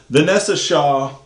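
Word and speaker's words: Vinessa Shaw: Uh anyways, it's Vanessa, but it's like spelled B I N. Vanessa Shaw, best known for Hocus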